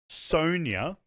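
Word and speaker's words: Sonya: people say i'm not gonna i'm gonna say sonia the entire time that's how it's pronounced who's that i know a sonia blade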